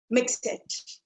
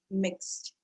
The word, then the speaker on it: mixed: People generally tend to pronounce this word as mix it. Let's not mix it. What's the correct pronunciation? I'm so glad a lot of you already know it, right? It is mixed, mixed.